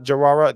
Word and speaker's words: Jawara: Jawara, did I say that correctly this time? Jawara, there was 3 syllables.